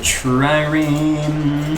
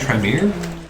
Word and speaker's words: trireme: So, Trireme. This scientist guy's name, it's like he renamed himself to sound extra intellectual, I feel like. So we've got those two. Trireme armor, Trireme Do we have weapon.